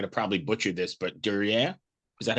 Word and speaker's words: Dürer: I'm going to probably butcher this, but Dürer? Is that how you pronounce it? Dürer.